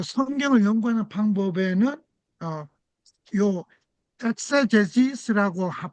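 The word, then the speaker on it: exegesis: 요거 이제 발음이 ex g es인데 엑세제스라고 발음을 해요. 그 성경을 연구하는 방법에는어요 엑세제지스라고 발음하는요 방법과 그다음에 두 번째 방법은 요거예요.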